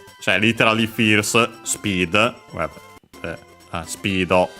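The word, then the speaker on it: スピード: Cioè literally fierce, speed, well, speedo, the English term, which is one of those accent that become unaccented in Japanese, so be careful.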